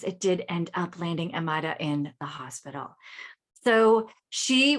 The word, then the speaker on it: Amayra: Today we have Amayra. Did I pronounce that correct? You got it. Amazing. Okay. So Amayra has climbed the corporate ladder.